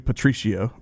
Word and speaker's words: Patricio: be wrong plato award i think it's poto of course it i i can't pronounce the name his name is actually a patricio patricio patricio so it's